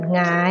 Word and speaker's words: หงาย: หงาย หงอย เหงา เงา นัก เรียน จะ สังเกต ว่า เวลา แกะ ออก เสียง นะ คะ มัน จะ ออก เสียง เป็น ตัว งู นะ คะ ออก เสียง เป็น พยัญชนะ ตัว ที่ 2 ค่ะ ไม่ ออก เสียง ตัว หน้า นะ คะ ต่อ มา นะ